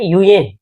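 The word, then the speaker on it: Nguyen: बता देता हूं कि ये नग्युयेन एक्चुअली ये इसको बोलते हैं यूएन ना, इसका जो प्रोनाउंसिएशन है।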